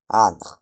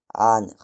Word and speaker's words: ankh: En égyptien ancien, on le dit ankh. ankh ankh Ça représente les les trois sons a a comme le ayin, le ne encore une fois et le rekh.